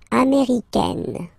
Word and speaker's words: américaine: and then feminine form, américaine, américaine. Okay, it's really open, this A-I, A, américaine, okay?